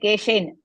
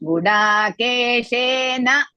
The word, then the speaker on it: गुडाकेशेन: Mahodaya, in Hindi, people will say Keshen, but in Sanskrit, full word you pronounce Gudakeshena Bharata.